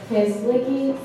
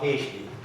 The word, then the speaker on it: Heshki: Muslim Community Network, Kezligi. Sorry, did I say your name wrong? No, but that's okay. Close enough. What is it? Heshki. Heishi? Heshki. Heshki. Okay, sorry.